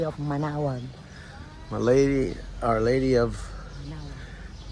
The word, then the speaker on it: Manaoag: Our Lady of Manaoag. Manaoag.